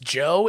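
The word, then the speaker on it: Djo: heard of the band DJ o pronounced Joe if you're a fan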